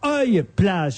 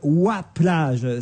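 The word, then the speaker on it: Oye-Plage: ville de W enfin j'ai dit bêtement œil plage il fallait dire W plage cette plage du pas de calèche je crois se dit W plage comment ça s'écrit et ben ça s'écrit o y e alors moi je disais évidemment bêtement et on dit W plage non c'est comme loi vous savez que c'est ancien orthographe de loi le jeu de loi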